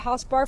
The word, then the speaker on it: HausBar: today we're visiting my friend dorsy here at housebar Farm did I say it right you said